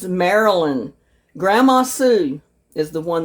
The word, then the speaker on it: Marilyn: And I pronounced her name wrong. It's Marilyn.